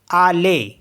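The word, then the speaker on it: allez: next word है A double L ई जड आले क्योंकि ई जड यहां पर हमारे लिए हो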